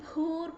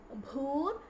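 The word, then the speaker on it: भूर्: Okay, so it is Om Bhur Bhuvaswaha Tatsaviturvarenyam Bhargo Devasya Dhimahi Dhiyo Yonah Prachodayat. Okay, so first is Om Bhur. It is not Bhur, it is Bha.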